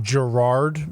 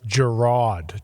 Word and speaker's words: Jerod: first things first uh it's not Gerard it's Gerard just j e r o d j okay okay thank